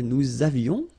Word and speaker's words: nous avions: Nous avions, let's make this beautiful liaison here. Nous avions, okay?